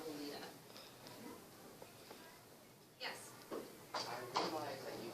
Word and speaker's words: Lolita: Most girls that I have met in America, because it's spelled Lolita in the way of the American pronunciation, we all just say it the American way instead of altering it to be a different form, per se.